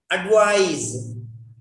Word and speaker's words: advise: Advise, ADVISE, advice, C. Don't pronounce the same way. That is sa, this is za.